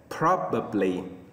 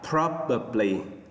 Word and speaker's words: probably: Số 6, nhấn âm đầu tiên nha. Probably. Đọc lại, probably.